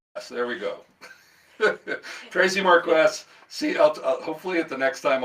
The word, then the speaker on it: Marques: It's Marques. Marques, like question. Like question. Traci with an I and That's right. Marques. Correct. There we go. Traci Marques, hopefully at the next time I'll get it right.